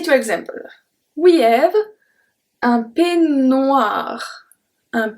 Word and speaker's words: peignoir: We have un peignoir. Un peignoir. So really don't pronounce any E. Un peignoir.